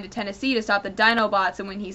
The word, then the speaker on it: Dinobots: Tennessee to stop the Dinobots and when he says Dino Bots it's spelled D i n o bots and Sun trigger stops him and goes no it's Dinobots Dy and they have this